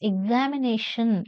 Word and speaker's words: examination: Pi is stressed politician the word examination examination has five syllables and the fourth one is stressed following are few words